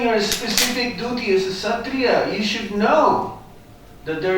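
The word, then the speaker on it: Kshatriya: killing in the forest a Satria of course will will pronounce it as katria katria would go into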